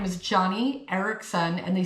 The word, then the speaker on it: Eareckson: So, um, her official name is Johnny Ericson and they spell it E A R E C K S O N.